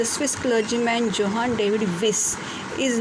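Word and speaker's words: Wyss: है, तो जो क्लर्जीमैन जोहान डेविड विस, प्रोनाउंसिएशन इज़ विस, तो उन्होंने ये नॉवेल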